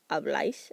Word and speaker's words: habláis: So I've got hablo, hablas, habla, hablamos, habláis, accent on the A since it's an AR verb, and hablan.